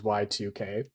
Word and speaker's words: YIIK: game called J or uh how it's actually pronounced is Y2K um somebody mentioned this game to me uh